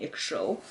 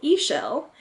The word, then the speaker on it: Ixchel: it properly yeah Michel I've been saying extra or Acronis that's usually weird I'm like like yeah so a shell and it's named after